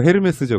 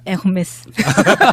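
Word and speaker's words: Hermès: 아, 예, 그러니까 나도 처음에 이제 스펠링방 보고 헤르메스죠 그랬더니 막 웃으면서 그렇게 하면 무식하다는 소리 듣는다고. 뭐라고 해야 되죠? 네, 에르메스.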